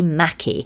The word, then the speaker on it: Maki: Owner Anna McDonald shared a post on her Facebook announcing the upcoming launch in mid-December of Happy Mackie, and that's spelled M-A-K-I, which will offer eat-in, takeaway and deliveries.